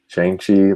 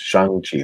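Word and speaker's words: Shang-Chi: katie or katie's like calls him chiang chi like she doesn't and he's like no it's shangchi there's like a g like that's what i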